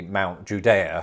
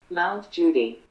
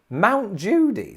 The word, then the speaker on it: Mount Judea: with judea mount judea mount judy mount judy like judge judy how do we get